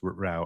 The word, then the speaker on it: Rao: And what Judge Rao does here is, I assume it's pronounced Rao, R-A-O, that what he does